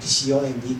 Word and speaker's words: comb: Because at that time, I only learned about the word C-O-M-B, comb. Yeah, comb, yeah. So all the 4 words, I just pronounce bomb, comb, tom, bomb.